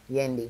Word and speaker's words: Yendi: Yendi.